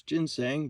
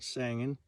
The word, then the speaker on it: ginseng: around for sang and that's how you say it when you're out this way it's ginseng but we call it sangin and um i think